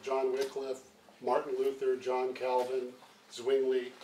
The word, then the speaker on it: Wycliffe: to give a lecture on John Wickliffe I prefer the pronunciation Wickliffe I know a lot of people like whitecliffe both are fine I'm sure U and